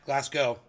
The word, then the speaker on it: Glasgow: way you pronounce that Glasco the W is silent GL it's a mistake